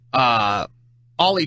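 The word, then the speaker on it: Oly: I called him Ole Thompson because that's how his name is spelled, O-L-Y, Thompson, all night on the mic, and Fish jumped in my ear, in my IFB, and said, it's pronounced Ollie.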